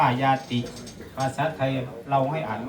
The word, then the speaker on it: ญาติ: มา บอก ความ เป็น ญาติ คำ ว่า ญาติ มา จาก คำ ว่า ญาติ นะ ถ้า อ่าน เป็น ภาษา บาลี อ่าน ว่า ญาติ ภาษา ไทย เรา ให้